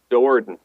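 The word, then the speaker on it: Do'Urden: Well, Dorden. Okay, good. Dowarden. Drisdorden? Dowarden. Jordan. Emphasis on the second syllable.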